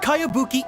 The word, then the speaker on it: Kayabuki: a really strange name who's this cowabunga it's pronounced kayabuki ek that would be me